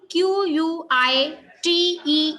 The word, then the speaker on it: quite: QUITE is pronounced as quite. QUIET is pronounced as quiet, right?